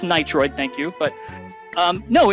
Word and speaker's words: Nitroid: up on the feed all mispronouncing my name which is pretty funny it's nitroid thank you but um